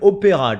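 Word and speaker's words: Opéra: Opera, but we pronounce it opera, chat.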